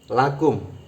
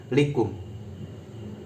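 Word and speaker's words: لَكُمْ: Li bertemu hu berarti membacanya lahu. Li bertemu kum maka membacanya lakum. Li bertemu hunna maka membacanya lahunna. Bukan lihunna, bukan lihu, juga bukan likum.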